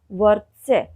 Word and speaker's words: वर्त्स्य: स्वर रहित व्यंजन हैं, लेकिन र का उच्चारण आप देख रहे होंगे कि व के बिल्कुल बाद में उन दोनों स्वर रहित व्यंजनों से पहले उसका उच्चारण हो रहा है।